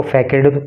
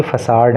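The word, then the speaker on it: façade: देखो इसका प्रोनाउंसिएशन बड़ा अलग सा है, कोई इसको फैकेड पढ़ सकता है, लेकिन ये फैकेड नहीं है, ये फसाड है।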